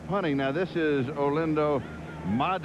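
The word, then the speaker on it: Mare: Now, this is Olando Mad. It's spelled M A R E, but it's the Italian pronunciation.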